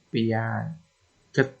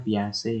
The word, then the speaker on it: Piaget: Misal anak membaca piaget, nah, kalau kita bacanya piase ya. Kalau yang baru awal-awal yang bacanya piaget, nah, gitu. Karena keliru dibenarkan oleh orang. Nah, proses pembenarannya itu namanya respon. Bacanya kan yang betulan piase.